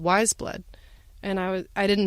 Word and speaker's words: Weyes Blood: and fun fact it is pronounced wise blood it's taken from the Flannery O'Connor novel the reason it's spelt